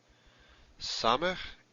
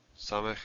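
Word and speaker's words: סמך: Samech is the S sound, as in sing. Samech is S, as in sing.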